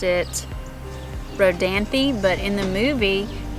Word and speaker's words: Rodanthe: Rodanthe I was told by local that they pronounced it Rodanthe but in the movie it's pronounced as road amp which is not correct Rodanthe is the correct pronunciation Rodanthe and the house